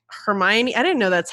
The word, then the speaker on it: Hermione: in your head, even down to how they pronounce their names sometimes. Yeah. You know, like Hermione.